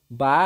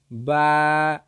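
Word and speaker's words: ب: এরপরে আরবি যেই হরফটি রয়েছে সেটি হলো বা। বা। এই বা হরফটি দুই ঠোঁটের ভিজা জায়গা হইতে উচ্চারিত হইবে। বা হরফটি দুই ঠোঁটের ভিজা জায়গা হইতে উচ্চারিত হইবে। বা।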